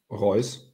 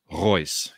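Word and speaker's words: Reuss: ruiz i don't know how do you pronounce in german r-e-u-s-s roys royce yes um and uh the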